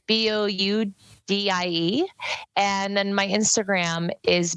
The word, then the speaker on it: Boudie: And Boudie is spelled like boudoir. So it's Boudie.